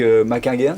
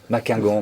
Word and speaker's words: Maquinghen: Bonjour Maquinguin, c'est ça ? J'arrive pas à prononcer votre nom. Maquingan, mais je vais y arriver. Hein. Maquingan, voilà, je l'ai bien dit.